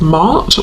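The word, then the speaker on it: Maat: And I'm noticing the feather, which is making me think of the Egyptian goddess Mart, or Mat, depending on how you pronounce it, who is about truth.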